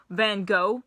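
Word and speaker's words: Van Gogh: got one of the As Americans say van go paintings and uh they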